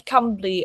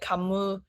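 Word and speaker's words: Cymru: Like I only know how to pronounce Cambly on my second year stay in Wales, and I still have people call it like Camus.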